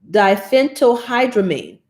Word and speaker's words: diphenhydramine: And let me pronounce this one for you. Diphenhydramine.